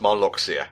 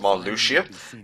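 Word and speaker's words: Marluxia: right real talk for the longest time I thought it was pronounced Malia and that's just the name I have in my head so when we get to it and I find out it's pronounced Mal Lucia kind of a let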